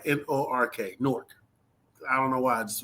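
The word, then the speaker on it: Newark: Now is how people from say it but you spell it n e w a r k. I say it like n o r k.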